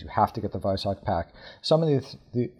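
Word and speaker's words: Weissach: Uh, and so there are certain things like the Viso pack. And by the way, everyone, please pronounce it a vis. That's the German pronunciation of the W. Um, the Viso pack.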